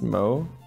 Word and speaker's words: Mao: Mao is pronounced Mo.